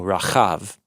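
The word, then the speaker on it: רחב: Yeah, it's Resh Chet Bet, so Rachav, which means to be broad or wide open.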